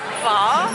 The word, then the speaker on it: pho: I'm quite hungry at the moment, and I've been dreaming of pho. That's apparently the right way to say it.